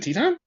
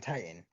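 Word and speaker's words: Titán: What, people don't pronounce it Teton? Some people might call him Titan, which Oh, okay, is the incorrect pronunciation.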